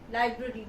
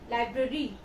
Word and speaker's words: library: you go to the library most of us say library is Library a r y here the r is out it is Library the word is Library